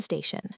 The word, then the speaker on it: station: I'm looking for the train station. Deep dive. Looking for means searching. Station. Another sh sound for the ti.